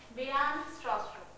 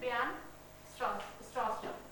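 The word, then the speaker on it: Bjarne Stroustrup: Actually, B is silent. Bijan Stroustrup. The pronunciation is Bijan Stroustrup.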